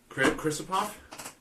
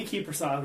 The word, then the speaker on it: Kiprusoff: That's not how I pronounce his name, but Krisipov? Mika Kiprusoff, yeah, Okay.